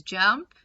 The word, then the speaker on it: JMP: information about jump so the jmp is pronounced as jump and as i said